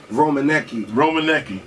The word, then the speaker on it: Rominiecki: Now how do you pronounce that now? City Rominiecki.